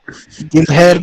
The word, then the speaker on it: Guilherme: Anyway, next one, Guillaume signing for Hammers or Guy or whatever you want to pronounce it. Guilherme.